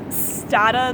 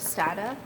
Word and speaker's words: Stata: was like, oh, like please pronounce Stata the way data is pronounced, and then someone else